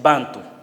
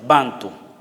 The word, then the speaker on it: Bantu: Sí, se quedó eso como Bantu, pero los mismos africanos dicen Bantu. Como el acento prosódico se pone en la primera sílaba, Bantu.